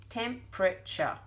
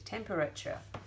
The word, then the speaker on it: temperature: temperature for syllables however in our Australian accent how do we say temperature Tim temperature we say it like it's got three but technical I'm gonna put it in the forks and technically is temperature and certainly for the